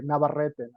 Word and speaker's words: Navarrete: I pronounce it the Spanish way, Navarrete.